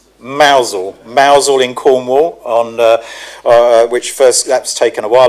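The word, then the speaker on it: Mousehole: I must get the pronunciation right. Mousel in Cornwall on that's taken a while ago.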